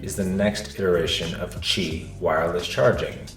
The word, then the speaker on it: Qi: Qi2 is the next iteration of Qi wireless charging. Qi, pronounced Qi, means vital energy.